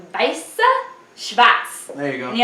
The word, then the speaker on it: Weiss Schwarz: It's Weiss Schwarz.